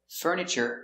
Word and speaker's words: furniture: in the furniture department also remember this word furniture you have that tu in the middle we pronounce it ch like chicken furniture church or furniture so again slowly i